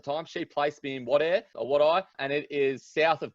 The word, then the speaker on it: Wadeye: Is that how you say it, Wadeye? And tell me about that experience in Wadeye. Where is Wadeye and what was it like? It's so funny hearing people pronounce it. So it's pronounced Wadeye.